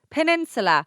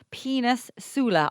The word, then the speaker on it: peninsula: Peninsula. I was doing homework with my son and he was pronouncing it penis sula.